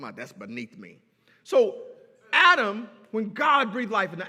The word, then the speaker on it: Adam: desire was for adam adam that's that's how it's pronounced in the hebrew it means red man